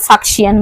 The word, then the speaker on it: Faxian: Question number 85 ফাহিয়েন, অর্থাৎ অনেকে উচ্চারণ করে ফাক্সিয়ান বলো, FAXIAN।